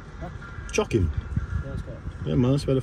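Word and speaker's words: Chocim: Chocking. Huh? Chocking.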